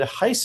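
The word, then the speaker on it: HISA: Point number 2 is I've been pronouncing Heise wrong the whole time. I listened to Lisa Lazarus, I believe, and she said Heise, and I've been saying Heise.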